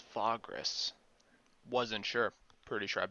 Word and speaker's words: Vagrus: called a vagrant of vagras okay so it's fogress wasn't sure pretty sure i've been pronouncing it vagras the whole time okay so that's just an